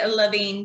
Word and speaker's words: Levine: Is it pronounced Levine or Levine? Is Queen Debbie Levine, darling.